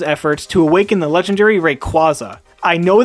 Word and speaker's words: Rayquaza: to awaken the legendary rayquaza i know the correct pronunciation is rayquaza like a quasar but i refuse to pronounce it like that rayquaza is the ancient legendary